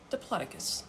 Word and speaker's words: Diplodocus: Okay, and so then I looked up, how do you pronounce Diplodocus? And it was Diplodocus.